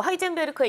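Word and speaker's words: Heisenberg: 뵐클 말하는 게 맞는 건가요 네 맞습니다 이뭐 하이젠베르크의 영어식 발음이 하이젠 더욱이 때문에 이제 이 미국 작가가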